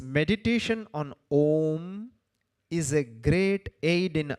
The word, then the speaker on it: Om: say is not the pronunciation pronunciation is om the euphonic combination sihi has taken place so while explaining we say it contains three syllables while we write we write only two o and m that's it with this